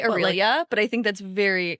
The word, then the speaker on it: Aurelia: Aurelia. Is that what you would say? Some people say it 3 syllables and some say 4. I say Aurelia, but I think that's very American.